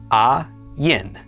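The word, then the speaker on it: עין: In is silent and the pak makes a. Then the yod is y. Theic is i and the nun at the end makes the sound n. Altogether this is pronounced a yin.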